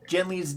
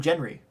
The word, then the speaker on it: Genly: Speaking of names, we didn't even talk about how the Orgurians used Genly's name instead of calling him Genry. Because they know how to pronounce L's.